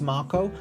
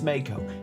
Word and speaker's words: Mako: If you think it's pronounced Marco, you're wrong. It's Mako.